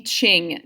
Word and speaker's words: Qing: manchu defeated the ming dynasty of china the ching dynasty i realize that's a cue but it's pronounced qing how were women treated in china